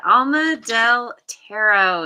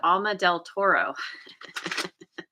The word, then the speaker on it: Alma del Tarot: The last time you popped in, I said your name wrong. I said Alma del Toro.